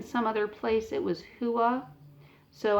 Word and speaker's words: hua: other place it was hua. So I believe that's what the confusion was. Okay, the Maori view of hua, so now I'm going to pronounce it like that, and that's H-U-A, would seem to require a universe with certain properties.